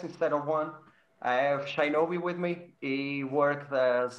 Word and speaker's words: Shinobi: So Oh, by Mick, the way, you say Shinobi, but it's Shinobi. So I think you have a problem with the E and I.